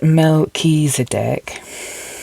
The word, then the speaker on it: Melchizedek: Pronounced Melchizedek, whose name means King of Righteousness, is the first high priest mentioned in the Bible.